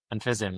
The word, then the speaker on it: Fism: But I guess I'm interested, like when you've after you've worked on tools like curves and Fism, and is that how you pronounce it? Fism? Yes. I pronounce it, yeah.